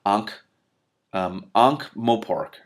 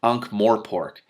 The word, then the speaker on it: Ankh-Morpork: Her last champion of any standing was now a pinch of potash in the ruins of still-smoking Ankh-Morpork. I said it wrong. Ankh-Morpork.